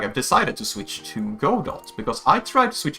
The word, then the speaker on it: Godot: So yeah, I'm gonna be trying to Godot, however you wanna pronounce it. I say Godot.